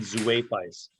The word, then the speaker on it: Zuaphis: The Midlands are divided up into two kingdoms: Eimphis, Imfis, and Zuaphis, Zuaphis.